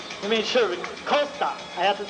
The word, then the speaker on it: Costa: Costa now he made sure that I could pronounce his name right he made sure Costa I have to say it just like that